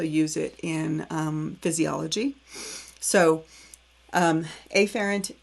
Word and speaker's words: afferent: in the digestive tract sends it through the afferent division of the peripheral nervous system to the